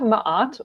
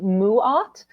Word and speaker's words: Ma'at: So here we have mahat or apparently Ross said it's supposed to be pronounced muat.